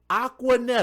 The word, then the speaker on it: Aquanetta: Her real name is Jaleisha, Jalicia Aquanetta. It took me a moment to look at it. It's spelled A-Q-U-A, Aqua, and then Netta, N-E-T-T-A. That's Aquanetta, right?